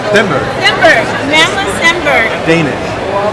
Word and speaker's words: Stenberg: This is Ari, and I'm here with Sebastian, and he's going to talk about this book that he's collaborating with Amanda Steinberg, right? Stenberg.